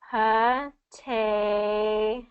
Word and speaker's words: potatoes: Okay, so what happens with this rule is, so in word stress, we always have one syllable that's stressed, right? Yeah. Okay, so whatever that stressed syllable has that T in it, so like potatoes, that second syllable is the stressed syllable, so we're not going